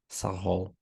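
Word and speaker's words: Sağol: Sahol. Did I pronounce it correct? Saho, Sahol, not Sahol. saho. It means be healthy. If we translate.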